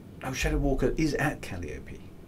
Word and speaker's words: Calliope: patch is imminent excellent oh emphasis on the second syllable so cali calliope i'll get confused um